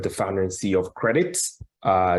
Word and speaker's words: credit: adiola did it the founder and CEO of credits uh it's pronounced c-r-e-d-i-t credit um about 2.5 billion people